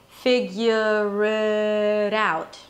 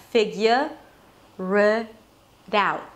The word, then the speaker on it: figure it out: Figure it out. The out sound is basically the A as in cat, and then an U and a T.